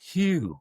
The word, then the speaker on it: HU: 2 letters, H-U, and it's pronounced Hugh, like the name Hugh. It goes Hugh, Hugh, H-U, Hugh. Like the pastel, hue, H-U-E, hue, and you'll feel it immediately in the solar plexus.